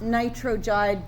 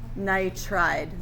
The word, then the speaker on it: nitride: How many syllables should be in that ion name? 2 syllables. So not nitrogide, but just nitride. Not oxygide, but just oxide.